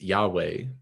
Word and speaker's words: Yahweh: In the story of the Exodus, the Hebrew people often turn their blame towards the God of Israel, often pronounced Yahweh, the divine name.